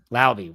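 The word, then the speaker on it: Laube: And Dylan, is it Laub or Lobby? I don't know how to say that name. Brian, how do you say that name? That's the New Hampshire guy that got it punched out on him. Yeah, 1 carry. What is it? It's Lauby. 1 carry, 0 yards, 1 fumble.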